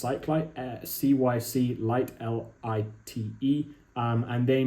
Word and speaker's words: Cyclite: And then there's also one which I might check out from a brand called, I think it's pronounced Cyclite, CYC Lite, LITE.